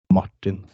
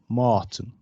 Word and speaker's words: Martin: It's just harder, faster, maybe. Yeah, it's Martin, not Martin. I feel so. I feel classy when I say it in English. I feel I should wear a suit. Martin.